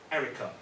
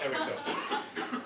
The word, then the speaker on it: Erica: One of the biggest banks in America launched another robot checkbox called Erica. Okay, also remember Erica rhymes with Bank of America. Okay, that's how it's called Erica.